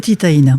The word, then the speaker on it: Titaïna: Est-ce que vous pouvez nous parler, par exemple, de Titaïna, j'espère que je le prononce bien, Titaïna ? C'est Titaïna.